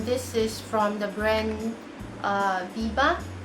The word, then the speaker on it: BBIA: Okay, next I have a gel eyeliner here, and this is from the brand Biba. Yeah, I believe that's how you pronounce BBIA.